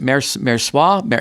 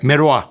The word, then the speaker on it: Merois: What are the differences between Spago and, is it Mersois? Merois. Merois.